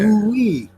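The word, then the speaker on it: oui: So in French, they have the word for yes is we. Yeah. So for us it's WEE, right? But for them it's O U I. Yeah. Ooh-wee. Ooh-wee. Yeah. So that sound oo, what is that? That's a long U sound or a double U.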